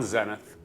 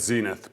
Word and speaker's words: Zenith: I own one Zenith, which I would have said Zenith before. Never. That's the That's the right English way to pronounce it, but in the industry, we I mean, the